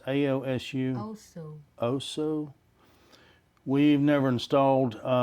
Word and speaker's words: AOSU: they suggested the AOSO, I think that's being pronounced right. Yeah. You think? AOSO. It's AOSU.